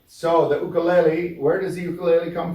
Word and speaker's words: ukulele: let me tell you if you were in Hawaii you would say ukulele because it's a Hawaiian word and who can tell